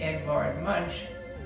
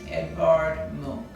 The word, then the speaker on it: Edvard Munch: like he should be edvard munch but is a norwegian artist and it's pronounced edvard monk he was a norwegian